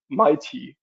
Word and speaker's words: MAETi: And uh it was almost correct Nikolai uh we pronounce it mighty.